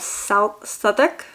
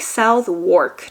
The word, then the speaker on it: Southwark: the middle, and you have the borough of Southwark. Gosh, sometimes the pronunciation because like it looks like Southwark to me, but I think it's pronounced Southwark.